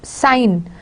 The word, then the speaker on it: sign: Sign, it's sign in sign, and its signature it becomes G is pronounced in signature.